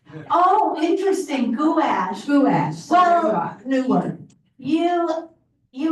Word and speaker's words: gouache: I took my art lesson when I was introduced to gouache in England and they say gash. Oh, interesting. Guash.